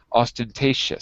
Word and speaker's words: ostentatious: no no no no it doesn't like a j sounds like a sh ostentatious sorry ostentatious yeah this